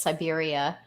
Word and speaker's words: Siberia: meant here you know kind of phonetically it looks like cyber but it's Siberia yeah I like that